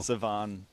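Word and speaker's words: Shavon: my name right but s h a v o n is somehow pronounced saone saone yeah yeah yeah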